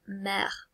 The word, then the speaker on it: mer: I nearly mispronounced that because it should be mer.